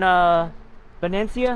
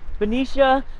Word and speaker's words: Benicia: We're in Venecia. How do you guys pronounce it? Venecia. Some people, yeah, some people say Venetia. Venecia. I call it Venecia. People call it Benicia. Some people call it B.